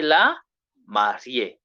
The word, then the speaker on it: mariée: The lady, we say la mariée. Remember, we have been told they are pronounced the same, but now the article must change.